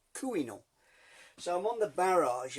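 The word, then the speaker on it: Couesnon: It's spelt Corsenon, but in French, Gallic, Breton, it's pronounced Camino.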